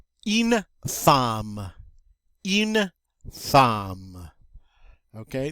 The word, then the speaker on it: femme: Okay, this one's a little unusual because by all rights it should be pronounced femme, but it's an exception to the pronunciation rules. We don't say femme, we say femme.